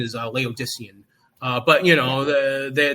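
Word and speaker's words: Laodicean: their favorite term was, you know, they're they're leodian, you know, oh my god, I think the correct the correct pronunciation is Leodysian.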